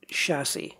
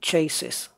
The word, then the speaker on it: chassis: black just just which is chassis yes it's pronounced chassis I have heard people I've heard somebody say ASIS and no so it's not chases right rear bumper now this means assigning LED